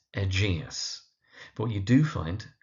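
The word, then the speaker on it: Egeus: It's egus. But what you do find is that people pronounce it as egus or egis or even egg sometimes, but it's egus. Emphasis on the second syllable.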